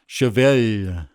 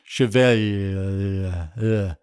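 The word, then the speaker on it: cheval: The song title is French for horse, and it's pronounced kind of like Chevelle, with a sustained L. I can't quite do it. Chevelle.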